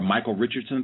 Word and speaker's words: Michael Richards: commercial did you see michael richardson in it and did you have thoughts around that peace peace um i didn't see the commercial but you keep saying his name wrong it's michael richards and while you were